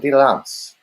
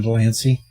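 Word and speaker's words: de Lancie: This TNG is going to have Frakes, Crosby, and John DeLance. DeLance, how do you help pronounce his name? John Delancey.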